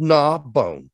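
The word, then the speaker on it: Gnaw Bone: name of the town it's called nah bone like gnawing on a bone knob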